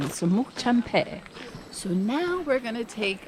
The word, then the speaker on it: Semuc Champey: Correct pronunciation, Semuc Champey.